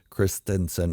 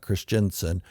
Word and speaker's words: Christensen: glad to see Hayden Christensen that's how it's pronounced kristinson not Christiansen back in Star Wars